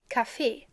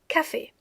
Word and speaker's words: Café: So you have café and café. Here's a slight difference. Café, with the pronunciation on the last E, because it's French, and café, with the pronunciation on the A.